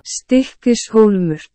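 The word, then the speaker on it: Stykkishólmur: verso, ecco, questo è un altro nome a proposito di pronunce assurde che non riuscirò mai a ripetere, Stikismur. Allora, facciamo così, ve lo faccio dire dall'assistente vocale, anzi forse da un islandese vera e propria. Stikishulmur. Ecco, questa è la pronuncia corretta.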